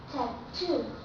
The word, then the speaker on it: tattoo: we say ble ble but look at this this also has Double T but be careful because we have to stretch in the second syllable and do remember the name canos with true T we have to use true T when it belongs to this group so we say tatto tattoo bottle butt tattoo okay